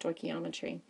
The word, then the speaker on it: stoichiometry: big word and it looks very scary it's pronounced stochiometry um I don't particularly like to use it